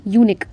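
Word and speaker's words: unique: एंड यहां पर यूनिक। इसे पढ़ते हैं यूनिक। लेकिन इसको हम बोलते क्या हैं? यू से साउंड प्रोनाउंस करते हैं।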